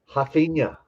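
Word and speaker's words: Raphinha: it has to be hafina oh listen at it listen we need this ringtone so so the in in um in portuguese in brazil the r is pronounced like an h right and i mean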